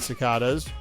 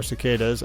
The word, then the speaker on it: cicada: one interesting thing about cicadas or cicas I believe you can pronounce it either way some of them spend